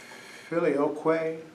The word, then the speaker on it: Filioque: Filioque is the way that most people pronounce it. Filioque is the Latin word for with the Son.